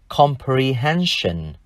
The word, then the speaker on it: comprehension: Và danh từ chúng ta thêm đuôi S-I-O-N là comprehension. Comprehension. Đuôi S-I-O-N trong danh từ này chúng ta lại đọc là tion, vì nó đi sau một phụ âm N.